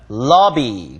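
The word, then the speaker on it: lobby: 아니요 로비 라고 발음 하지만 , 발음 은 " 라비 " 입니다 . 더 " 라 " 소리 와 비슷합니다 .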